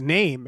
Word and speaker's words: Naim: His name is spelled Naim, and it's name. Name.